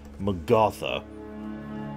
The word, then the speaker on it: Magatha: Excuse me, I have to pronounce her name correctly. Magatha, which is how she actually pronounces it herself.